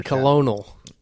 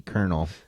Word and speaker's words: Colonel: Well, we had a cocktail before the show when Kentucky Colonial. Well, I think it's pronounced the Kentucky Colonel. Then why doesn't it say K R Nel?